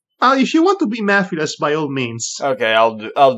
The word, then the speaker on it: Mephiles: Oh, God, how do you pronounce the name? Mephiles.